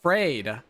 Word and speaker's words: Phreid: My name is Fray. P H R E I D. Pronounced like afraid not.